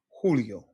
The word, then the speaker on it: Julio: J's are always pronounced as English H's. Por ejemplo, Jose, Javier, Jamón, Julio.